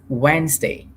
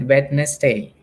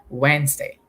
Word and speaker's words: Wednesday: at these two words the first word is pronounced as Wednesday we don't pronounce that wedness day don't say wedes day we say Wednesday but when your teacher asks you to spell